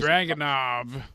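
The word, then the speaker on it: Dragunov: did I say it draag why did I say it like I was from Boston there that was dragonov Dragon a um but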